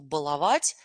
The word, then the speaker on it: баловать: внимание на замечательные слова баловать и балованный ударение ставится только таким образом никакого баловать и балованный баловать балованный очень частотно ошибка а при произнесении этих слов и так мы запоминаем